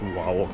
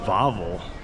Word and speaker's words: Wawel: It's actually not pronounced Wawel Castle. It's actually pronounced Wawel Castle, but it's spelled W-A-W-E-L Castle.